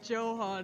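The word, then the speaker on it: Johann: Have you never heard of Johan Sebastian Bach? It's It's German. That's why the the J is pronounced with a Y sound. It's Johan and Joe here.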